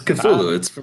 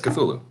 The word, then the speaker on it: Cthulhu: It looks like Hulu. Silent No, CT, just Hulu. Is it Hulu? It's Cthulhu. I thought it was Cthulhu. Yeah, it's Cthulhu.